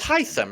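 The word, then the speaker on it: Hisam: Kirsten Matt blue and hysum it's heisen right yeah yeah okay other people are saying it wrong but I'm like oh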